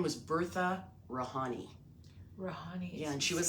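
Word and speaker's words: Rihani: Rahani. Yeah, and she was spell it R-A-H.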